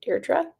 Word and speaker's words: Deirdre: Deirdre.